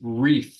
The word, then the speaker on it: wreath: our next term is wreath oh this which does have a silent letter at the beginning W yeah so a wreath